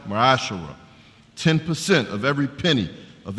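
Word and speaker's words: מעשר: It means a tenth in Hebrew, and it's pronounced Ma'ashara.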